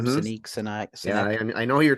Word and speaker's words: Sinek: I think that's how you say his name, Sinek.